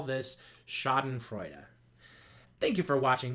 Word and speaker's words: schadenfreude: one of those choise so this would be pronounced as duh so putting it all together Sesame Street style we would call this schadenfreude er thank you for watching this is advanced dictionary skills with mr.